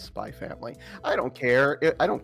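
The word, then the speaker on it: Spy×Family: Because I know Hannah Hana just like just like with Spy Family, it's not Spyex Family. It's Spy Family. I don't care. I don't care if people pronounce it the X cuz the X is there.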